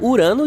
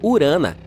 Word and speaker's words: Urano: Bem, bem, estamos chamando Urano de forma errada todo esse tempo. Os astrônomos dizem que deveríamos pronunciá-lo como urana.